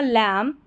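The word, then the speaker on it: lamb: अब इसको लैम्ब नहीं पढ़ेंगे, MB साथ में, अ लैम्ब, लैम्ब, M तक ही उच्चारण होगा, अ लैम्ब।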